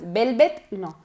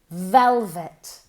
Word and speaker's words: velvet: Listen carefully. V, v, v. Moviendo las cuerdas vocales. Velvet, no. V. Velvet.